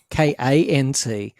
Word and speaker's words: kant: How do you say KANT? KANT. Yeah.